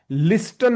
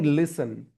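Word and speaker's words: listen: लिस्टन नहीं लिसन, है ना।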